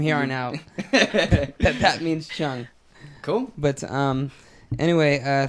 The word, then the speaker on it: Cheung: just gonna guess that if it's spelled that way it's usually pronounced Chung right because I knew